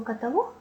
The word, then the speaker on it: каталог: запитує біль у спині слово каталог має наголос на останньому складі запам'ятати його Вам допоможуть